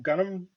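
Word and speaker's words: Gunnm: read it um it's called uh gumu uh or gunnam depending on on on your pronunciation gundam no not gundam g-u-n-n-m it's okay the direct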